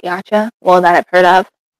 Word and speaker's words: YCH: Like it's spelled um YCH, but like everybody just pronounces it Yacha.